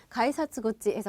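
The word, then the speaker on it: 改札口: 1탄에서 외웠었는데 자 그래서 원래 입 구자로 써서 입은 굿즈인데 사금 들어가죠 연 연결돼서 그래서 가이사 구찌에서 부드럽게 들어간다는 거까지 되셨어요 개찰구는 가이 사츠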